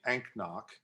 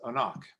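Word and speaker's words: anCnoc: n o c uh you would think it would be anknock but it's a knock um in 1994 and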